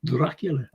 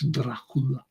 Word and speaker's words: Dracula: know everyone but his proper pronunciation is not dracul it's Dracula Dracula and that's the way